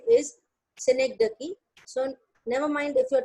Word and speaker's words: synecdoche: सारे लोग इसको synecdoche pronounce करते हैं, but the real pronunciation is synecdoche.